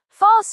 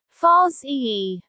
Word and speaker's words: farce: Remember, farce usually carries criticism. Mistake number 2. Wrong pronunciation. Do not say farce.